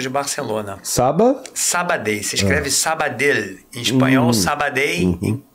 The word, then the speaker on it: Sabadell: Se escreve Sabadell.